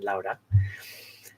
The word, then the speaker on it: Laura: wife she's from Argentina her name is spelled Laura but in Spanish is pronounced in lo de it was incredible we